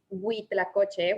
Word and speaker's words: Huitlacoche: The right way to pronounce that is Huitlacoche with H, but I have found,